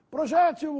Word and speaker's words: projétil: forma mais usual ortoepia Projétil ou projetil novamente duas palavras que estão corretas Mas se você quiser arremessar a que tem preferência use a forma projétil com acento triplex ou triplex apesar